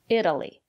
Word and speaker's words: Italy: these examples Italy Italian Italy the syllable after the letter T is not stressed or pronounce the letter t as a fast de Italy I've never been to